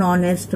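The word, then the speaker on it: honest: इसका 3 पॉइंट है, an hour, an ऑनेस्ट मैन, N hotel. तो इसमें एच साइलेंट है, इसलिए यहाँ पर उसका उच्चारण वॉवेल से ही होता है, इसलिए इसमें एन लगाया गया।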